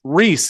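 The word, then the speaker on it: Rhys: you American boots so Reese Reese is how it's spelled it's R Reese RH Ys from South Wales I love it so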